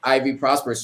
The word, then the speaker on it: Ivy Prosper: Oh, and also make sure you subscribe to Ivy Prosper's channel, and it's just like how it's phonetically spelled, how it's pronounced.